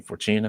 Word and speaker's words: Fortuna: Fortuna. Bib Fortuna. Fortuna. Like I'll give you $2 for tuna.